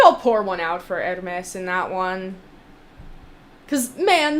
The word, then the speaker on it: Hermes: However, the, fashion brand that she's named after is pronounced Hermes either way.